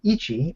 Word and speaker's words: Ichi: for the game called Ichi and I should have brought up the darn screen is that how you pronounce it Ichi yeah it's means one in Japanese ich okay I'm I'm